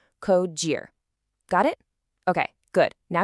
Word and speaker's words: Cogir: It's not Cogir, it's Cogir. Think of it like co-pilot, and the second part rhymes with cheer. Cogir.